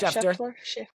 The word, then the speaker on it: Schefter: Schefter.